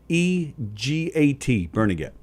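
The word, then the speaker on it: Barnegat: called born again well i actually i think it's pronounced bernadette actually yeah b-e-r-n-e-g-a-t bernaget yeah bernadette yeah bernadette new jersey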